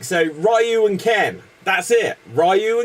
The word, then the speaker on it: Ryu: you can't pronounce Ryu yeah no it's it's pronounced rayu like I I've been playing this since like 1991 like so rayu and Ken that's it rayu and Ken rayu